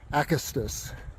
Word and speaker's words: Acastus: It took me the entire trail to figure out how to pronounce it. But here we are, named after a butterfly, Acastus.